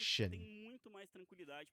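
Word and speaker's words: Xin Zhao: So like in Chinese, the XIN sounds like SIN. It would just be Sin. Which ironically was how people were pronouncing it prior. And then the ZH is Zhao. But then the creator of it said that he meant to pronounce it like Shin.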